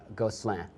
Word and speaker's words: Gosselin: with the double S like a Z, Right. as it were. But I know that my dad would probably, and this is pretty poor interpretation of it, would probably pronounce it Gosselin.